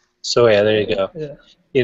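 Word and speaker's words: Sawaya: a medium, particularly with Nathan how do you pronounce his name? Sawyer. Sawyer, there you go.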